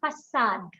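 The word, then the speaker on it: façade: you have facade now i want you to note the c sound in both of these can you tell me what happens in the c sound first one gets a casual decoration and the second one what happens and second one what happens it is facade right so so so this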